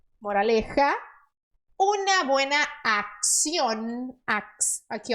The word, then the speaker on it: acción: Una buena acción. Aqui, ó. CC em espanhol normalmente é x.